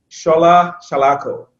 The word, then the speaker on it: Shola Salako: is jermaine and kruma and we're joined by shola shalako right right have it right yes you got the right pronunciation of your your name oh shall i